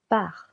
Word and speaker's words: pars: this first verb part je pars silent s je pars tu pars here silent s tu pars il Pars.